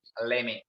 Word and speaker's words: let me: Pronunciation would be leme. Pronunciation would be leme. Leme කියන pronunciation එක තමයි ඔය තියෙන්නේ. How is consist? It's consist වෙලා ඇත්තේ කොහමද? Let me. Let plus me.